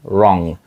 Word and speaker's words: wrong: не так Щось сталося там не потрібно вимовляти літеру w там зразу йде просто Wrong What's Wrong що є